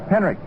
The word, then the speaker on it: Henrich: It's pronounced as though there was a K on it. Henrich in right field.